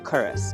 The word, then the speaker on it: Culross: Culross is compleet anders geschreven zoals je misschien al op het scherm hebt gezien en wordt uitgesproken als Koo-rus.